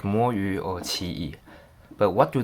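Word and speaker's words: 魔域: So as you might think, the first word is pronounced as mo, and the second word is yu.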